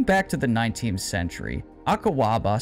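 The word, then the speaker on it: Akuaba: Dating back to the 19th century, Akawaba, sometimes pronounced Akwaba or Akuba, are wooden ritual fertility dolls from the southern region of Ghana and West Africa and nearby areas.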